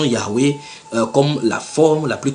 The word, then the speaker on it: Yahweh: Ils disent, voici ce qu'ils disent dans leur traduction, bien que nous inclinions à considérer la prononciation Yahweh comme la forme la plus correcte, nous avons retenu la forme Jéhovah.